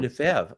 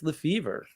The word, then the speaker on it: Lefebvre: I don't want it pronounced the French way because I didn't grow up that way.